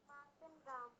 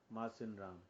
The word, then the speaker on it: Mawsynram: मार्टिन राम। मार्सिन राम। इसकी spelling होती है MAWSYNRAM।